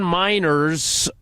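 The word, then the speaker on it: Meinerz: Denver Broncos team website Quinn Miners pronounces his name miners miners not miners like children not that not coal mining miners is what he's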